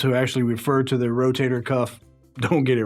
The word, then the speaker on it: rotator cuff: It's not rotisserie cup. It's not rotary cup. It's not rotational cup. It's a rotator cuff.